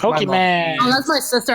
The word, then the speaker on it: Pokémon: Yeah, she does, because I've seen people do that whole Pokemans and shit. Like my mom. Pokemon. Oh, that's my sister. How she pronounces that Pokemon.